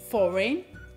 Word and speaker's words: foreign: La G è di solito muta anche quando c'è il dittongo GN alla fine di una parola. Ad esempio, campaign, foreign, rain.